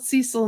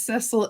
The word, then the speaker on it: Cecil: He's called Cecil in the show, but the British way to say his name is Cecil, and because Bogz says